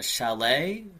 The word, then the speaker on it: chalet: And then the last place that I uh looked up here is the Belton uh chalet. I can't pronounce that word.